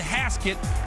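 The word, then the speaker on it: Hasquet: a shot but Jordan haset rhymes with basket coincidence I don't think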